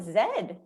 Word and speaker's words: Z: the letter ah wait british people call it zed yeah okay guys lobna's